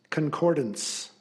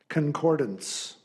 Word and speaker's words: concordance: Your word is concordance. Concordance. Alternate pronunciation, concordance.